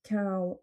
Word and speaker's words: cão: L'autre cas de figure, c'est aussi pour chien, qui se prononce cão au singulier et cães au pluriel.